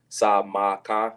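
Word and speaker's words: סמך: with Samak, and Samak, which is spelled Samaka, and that last that A, the A on the Ka would drop off, and it would be pronounced Samak, which means support.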